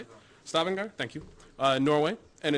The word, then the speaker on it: Stavanger: Stavanger, thank you.